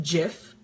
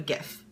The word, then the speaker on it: GIF: to if it is pronounced jiff like the creator says it is or if you're a normal human being and call it a gift but it is spelled